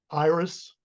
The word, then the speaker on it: Iris: gioser gioser yep um by the way uh Iris the I in Latin is always pronounced e so it really should